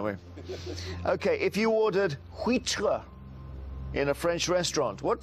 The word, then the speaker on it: huître: OK, if you ordered huître in a French restaurant, what type of seafood would you expect to be served?